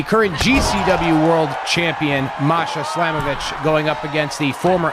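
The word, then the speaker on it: Slamovich: slavovich against Mercedes Monet I don't know why my brain always wants to say slamovic I probably said it wrong more than I've said it right on the show but it's Masha slamovitch going up against Mercedes Monet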